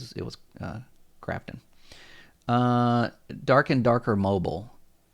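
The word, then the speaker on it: Krafton: uh will be there now is Crafton the same as Grafton or did I get that wrong is that I thought or did somebody misspell that Grafton buys highi Rush should Crafton I thought is it Crafton or Grafton it is CRA okay I got it right it was uh Crafton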